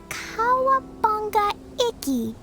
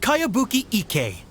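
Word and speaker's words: Kayabuki Ikku: By Kawabunga Iki. Yoimiya, this is a really strange name. Who's this Kawabunga? It's pronounced Kayabuki Ike.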